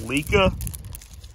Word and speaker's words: LECA: all the media in place this is called lika that's one name for it anyway and every